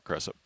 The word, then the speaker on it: Creasap: is going to be Sarah Creasap. Or Cressup. Keys picked up the personal, her first. First free throw from Cressup is good. We'll go with the Coach Claude official pronunciation of the name there.